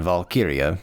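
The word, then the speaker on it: valkyrja: guy on Tik Tok and the way he pronounces it is wera and then valkiria and that apparently means Chooser of the the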